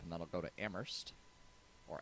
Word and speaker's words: Amherst: then I'll go to Amherst or Amherst if you're uh weird Amherst you don't pronounce the Hearst it's like too many words immersed a minute Amherst